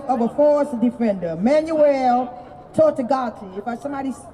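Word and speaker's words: Tortuguita: The effects of Cop City have already taken the life of a forest defender, Manuel Tortugati. If somebody say his name, if I didn't say it correct. Their name. Tortugita.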